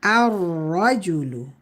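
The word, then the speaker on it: الرجل: And to make the man, we put alif lam, but lam is silent. So how do we say that? Ar-rajulu, ar-rajulu.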